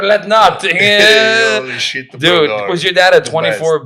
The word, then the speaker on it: Brodeur: Then it was weird because he pronounced Brador okay. But then when Martin Brodeur played for the Devils, he would call Martin Brodeur, Brador played the game tonight.